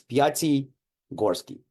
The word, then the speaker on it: Pyatigorsky: why people have problems you just got to split my name in two parts it's Piti Gorski PTI Gorski very very simple name